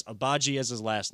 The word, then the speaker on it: Agbaji: I will make sure I get the pronunciation right. I know it's Agbaji as his last name.